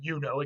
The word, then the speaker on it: Juno: more or less um we think that this comes from the goddess juno and her name would have been yuno again they didn't have a j her name would have been yuno so so it makes